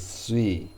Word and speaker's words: sui: word for water but the chinese pronunciation is sui and sui is used